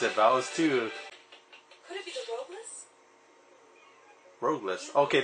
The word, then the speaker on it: Valis II: cool all this too yep that's how you pronounce it vowels too could it be roadless okay that was the